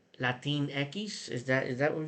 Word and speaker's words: Latinx: it says here but spanish words do not end the letter x which is pronounced as ekis and some spanish speakers